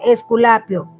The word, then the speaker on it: Esculapio: ofrece para los latinos es esculapio así se pronuncia esculapio dice dios griego de